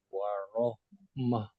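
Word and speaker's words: وَرَحْمَة: Warahmah. Bagus. Jadi ketika kita berhenti di huruf ta marbutah atau ta yang bulat iya itu dibacanya seperti huruf ha, Pak.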